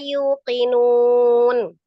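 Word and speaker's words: يُوقِنُونَ: Tadi yang saya koreksi, Umi bacanya yu hamzah sukun. Sementara ini matobi waw.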